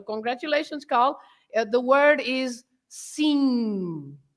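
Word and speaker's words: sim: It's a nasal sound, no M sound at the end, right? So congratulations, Carl. The word is "seen," right?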